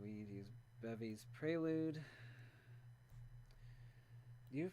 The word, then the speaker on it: prelude: you know prelude libraries apparently it comes from like a french word so it's supposed to be pronounced prelude in in french so like i know